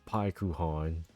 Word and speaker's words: Paikuhan: And correction, it's Pyuhan in the way that it's spelled, but Pyon does a pretty good job.